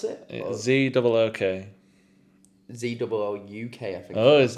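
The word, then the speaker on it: Zouk: Z-O-O-K. Z-O-O-U-K, I think. Oh, is there I a think U there's in a it? U in there, yeah. That's why it's like Zook.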